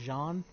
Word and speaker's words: Jean: be Jean but I'm I don't know why I'm saying John since it's JEA in the imagining since it's French this is based around the French I'm assuming that's pronounced John case which at that